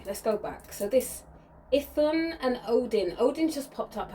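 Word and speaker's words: Iðunn: Right, this energy of Ithun, okay, and it's because I had to really, it's Ithun, but it's spelled, when you see it, it may look like Idun.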